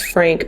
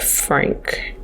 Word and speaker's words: Franc: one is rouge frank i'm pretty sure it's frank because this is a france based brand and f r a n c is pronounced frank if i'm not mistaken if you guys are